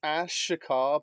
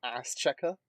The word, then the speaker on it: Ash Shakar: no, it's Ash Shakar, but everyone has nicknamed him Ass Checker. Yeah. Because no one could pronounce it properly as we first got it.